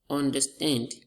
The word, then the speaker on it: understand: Understand. We have our stress on the stand as the second word. Look at this, overflow. Overflow. We have our stress on the second word as well.